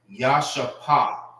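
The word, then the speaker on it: ישפה: How you say Jasper in the Hebrew? It's Yashapah.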